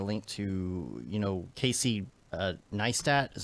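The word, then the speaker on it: Neistat: I got a link to you know Casey nice that is how you say his last name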